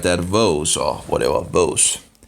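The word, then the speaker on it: Woese: His name was Carl Vos or something like that, Vos or whatever, Vos. Rhymes with Rose, Vos Rose, I guess.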